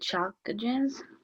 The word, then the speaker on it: chalcogens: No, I don't know how to pronounce it. Chalcogens.